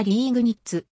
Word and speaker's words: Liegnitz: もあるドイツ語での読みはリーグにっつ 20世紀初頭のレグに the 2 つ